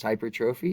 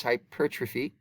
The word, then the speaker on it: hypertrophy: So this word looks like hypertrophy, and it is not pronounced hypertrophy, it's hypertrophy. And it's the same hypertrophy we discussed with the heart, especially with the left ventricle.